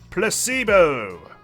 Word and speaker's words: placebo: today repeat after me Placebo the stress is on the middle syllable C placebo Splendid oh